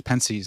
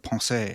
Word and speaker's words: Pensées: mispronouncing words on here I call it Parker's penes instead of Pon I know like but